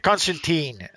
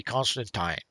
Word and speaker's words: Constantine: From what I understand, this is sort of the American pronunciation. Supposedly, the real pronunciation is supposed to be Constantine. Oh, really? Yes, but he's been called Constantine for so long throughout various media that pretty much became the default pronunciation now.